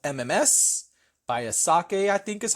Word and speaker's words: Asake: Ashake. Oh, there's no H, so that's why I said it that way.